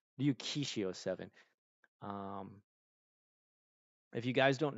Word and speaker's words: Ryukishi07: I want to say Ryukichi07. I always get his name messed up. I want to make sure I don't mispronounce it. Ryu Kishi. I always switch the S with a C. Ryukishi07.